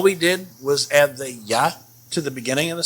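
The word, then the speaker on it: ja: and you got it so this word is yeah yeah means yes and this word is pronounced nay hear how i'm saying that a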